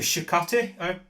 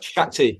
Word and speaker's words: Shakti: of the pronunciations right on these uh the Shakti did I pronounce it shti Shakti yeah the rest of them are Ms